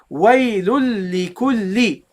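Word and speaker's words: وَيْلٌ لِّكُلِّ: And then the second lam with a kasra. Li kulli. Okay? You see? Two lams. Waylul li kulli. Waylul li kulli. Waylul li kulli. That's how you should pronounce it, guys.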